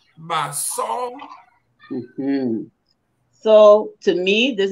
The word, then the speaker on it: Basaw: It's pronounced Basaw.